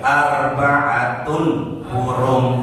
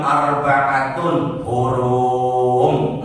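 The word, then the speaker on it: أربعة حرم: Minha, lagi minha arba'atun hurum. Jadi bacanya jangan arba'atun hurum, enggak, arba'atun hurum.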